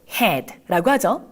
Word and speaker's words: head: 바로 H-E-A-D를 써서 머리요? 영어로 head라고 하죠. 에 발음이 나오네요.